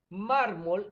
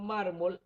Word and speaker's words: mármol: la vamos a tildar mármol es un ejemplo si dividimos mármol en sílaba verificamos que la sílaba mar es la sílaba fuerte la sílaba tónica y si contamos de